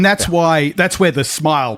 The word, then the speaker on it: smial: We have suggestions in a draft of Appendix F that Tolkien intended it to be pronounced smile, and that's what most people pronounce it as.